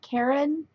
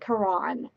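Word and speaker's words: Caron: how to say this I've heard people pronounce it Karen and karon I don't know I think it's I think it's Karen but you know what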